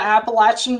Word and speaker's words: Appalachian: tobacco farm actually in the middle of the appalachian mountains and that is the correct pronunciation folks in arkansas know that but grew